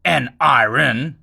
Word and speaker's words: NRN: Now then, when it comes to NRN players, NRN, that's how you should pronounce it.